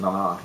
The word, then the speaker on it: Nana: That's how she pronounces it, Nana, not Nana.